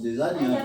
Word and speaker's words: Desaignes: et apostrophé s'ériger ne s et qui se prononce des années vient me voir dans des centaines une excuse